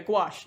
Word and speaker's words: gouache: Gaus Gash. I don't either, but uh Oh, wait. Yeah. Yeah. Gouache.